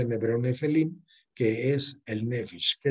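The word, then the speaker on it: נפילים: Se ha respetado eso durante muchos cientos de años, pero se pronuncia en hebreo Nefelim, que es el Nefesh, que es el alma vital.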